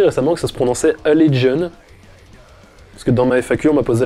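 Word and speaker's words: Allegaeon: Alors, j'ai appris récemment que ça se prononçait Allegion. Parce que dans ma FAQ, on m'a posé la question de mon groupe de death technique préféré. J'ai dit Allegaion et en fait, je croyais que ça se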